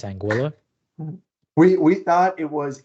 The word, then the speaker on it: Anguilla: we thought it was angua like because it actually comes from a Spanish word meaning eel but it's a British Island and they pronounce it anguila so it's Spanish origin pronounced British so it's just racist